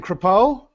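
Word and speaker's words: Crepeaux: yeah so now kpo how do you spell it uh well it's original French family c r e p e a u x it's like shapo shapo like a hat like like a hat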